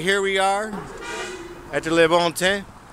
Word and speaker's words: Le Bon Temps: All right, here we are at the Le Bon Teint. And they don't pronounce the last word usually, but here we are.